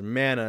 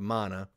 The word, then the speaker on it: Mana: redub or remaster says Mana instead of Mana. In my experience and knowledge, it's pronounced Mana, not Mana.